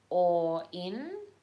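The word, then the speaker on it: Auryn: a portal and uh that is called the or in well that's how you say it and it's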